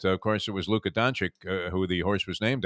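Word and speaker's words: Dončić: 4 calls of the race, and then remember Doncic, ran, and he was pronouncing that as Danzig, the city where my mother was born, having no idea that, of course, it was Luka Doncic who the horse was named after.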